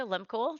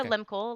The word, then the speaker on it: Lehmkuhl: Anyway, but Limul like like lemon Kool-Aid.